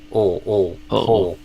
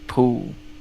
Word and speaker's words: pull: Pull, pull. More like that. Request. Okay. Do you feel a difference there? Yeah. Usually, I try to pronounce like poo. Yeah, I say pull, so it's different than poo.